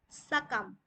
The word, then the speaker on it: succumb: Today we are going to learn about the silent letter B.